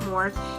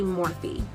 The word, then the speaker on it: Morphe: m401 I think it's morphe actually I watched a video and it's not morph it's actually morphe but I don't know